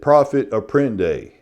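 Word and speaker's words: profit à prendre: But in South Carolina, we pronounce it profit apprende.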